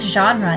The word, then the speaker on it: genre: of our spelling rules the g sounds like a j so we use the soft g rule knowing that when g